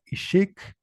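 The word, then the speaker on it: ixik: También habrá notado que el acento o el tono siempre recae en la segunda sílaba de las palabras. Anteriormente les puse la palabra ishik, la palabra kinich y ahorita la palabra otot. En la segunda sílaba o en la segunda vocal es donde recae el acento.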